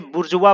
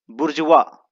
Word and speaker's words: bourgeois: दोस्तों, इसे बुर्जुआ पढ़ते हैं, बुर्जुआ, BOURGEOIS, और इसे पढ़ा जाता है बुर्जुआ।